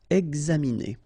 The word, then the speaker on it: examiner: Okay, it's interesting here because you've got this X and then you pronounce it X. Examiner.